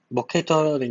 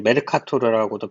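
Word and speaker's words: Mercator: 메르카토르, 머케이터는 이제 미국식 발음이고 원래는 이제 메르카토르라고도 표현하는데 메르카토르 투영에서 원기둥을 90도 회전시켜서 중앙 좌우선이 원기둥면에 접하도록 하는 투영을 말합니다.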